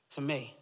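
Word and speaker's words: τιμή: Honor in the Greek, tome, which is spelled like time, but it has a little accent at the end.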